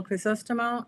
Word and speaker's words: Crisostomo: It's hilarious because nobody can pronounce it. It's Chris Ostimo.